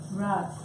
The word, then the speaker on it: Ras: One, Ras. Ras with a long A in Sanskrit.